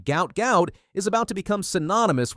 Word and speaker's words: Gout: Now, it's pronounced to rhyme with pout, and Bono wants to change it back to avoid the medical connotations. But honestly, at this point, the name gout gout is about to become synonymous with speed, not disease.